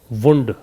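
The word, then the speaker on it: wound: अब आप पूछोगे सर ये दोनों स्पेलिंग तो सेम है, तो फिर इसको वाउंड और इसको वुंड कैसे पढ़ते हैं? बस इसी तरीके से उच्चारण से ही इसमें अंतर को ध्यान रखेंगे आप।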